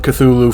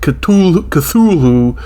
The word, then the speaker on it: Cthulhu: It says we say it Cthulhu. Lovecraft said it Cthulhu or something.